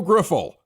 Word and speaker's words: Grifol: Pedro Grifol.